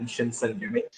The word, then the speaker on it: Shinsengumi: I'm just going to correct Brett's slight altered pronunciation of it. It's the 1,000-tailed dragon Shinsengumi. Sorry.